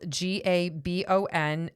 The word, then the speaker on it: Gabon: There's a country called Gaba Gaban and it's it's spelled G A B O N and it's in central Africa and we have a listener in Gabon Africa.